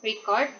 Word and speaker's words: record: When the stress in the on first syllable record is a noun meaning a note or a document. When the stress in the second syllable is record, it's a verb meaning to recall.